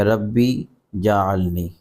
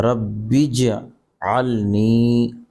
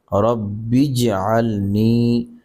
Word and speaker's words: رب اجعلنی: ہیں۔ آخری دعا تو اس طرح لوگ پڑھتے ہوتے ہیں کہ ربی جعلنی، تو یہ غلط ہوگا۔ ربی جعلنی غلط ہے، جیم کے اوپر زبر نہیں ہے، جیم ساکن ہے۔ دیکھیں اصل تلفظ یہ ہے رب اجعلنی، رب اجعلنی۔ لوگ ربی